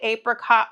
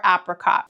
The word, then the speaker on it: apricot: Also, I'm curious, do you say apricot or apricot? I know I mentioned this in a previous video of the apricot upside down cake, but I'm always curious to know how people pronounce it because my husband says apricot and I say apricot.